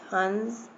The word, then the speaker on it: हंस: इसके शब्द पढ़िए, हंस, हंस, कंगन, नाक से निकल रही है ना आवाज, हंस, कंगन।